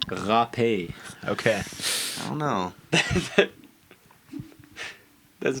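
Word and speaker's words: râpée: What is poutine râpé? I don't think that's how that's pronounced. I think you said that wrong. What is it? It's râpé.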